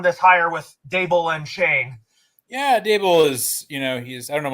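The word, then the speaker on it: Schoen: shahon i mean i i thought it was pronounced shahoon but john mara says it's shane it's not a any but it's pronounced shane even though it's is s-h-o-e-h-e-n it's chain it's joe shane as the new gm of the new york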